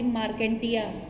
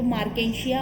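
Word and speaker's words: Marchantia: तो मार्केंशिया होता है, मार्केंटिया कुछ भी नहीं होता है ना.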